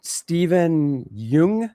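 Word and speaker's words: Steven Yeun: Um, and then you also had Stephen Yung.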